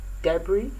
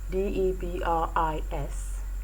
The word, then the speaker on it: debris: have examples and words like debris d-e-b-r-i-s debris the s becomes silent a word like l-o-c-u-s-s-t-a-n-d-i